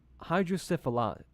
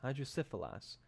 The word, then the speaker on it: hydrocephalus: The baby's head was greatly swollen because of the hydrocephalus. How do you say that? Pronunciation right there. The hydrocephalus. Not syphilis. Hydrocephalus.